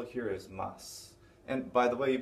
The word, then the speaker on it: ます: We just know that in these certain situations, we don't tend to pronounce a final mas as masu, unless you're being very formal or talking on the phone.